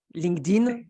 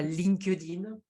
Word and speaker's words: LinkedIn: Comment on prononce LinkedIn? Donc, en effet, j'avais déjà fait quelques posts là-dessus. Donc, on ne dit pas LinkedIn à la française, mais on dit en effet LinkedIn.